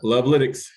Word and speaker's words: Lovelytics: I guess, is that how you pronounce it, Sekou? Yeah, Lovelytics.